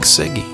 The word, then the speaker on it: Cyge: hi and welcome I'm Rick sigy if you've already figured out how to pronounce my last name before I told you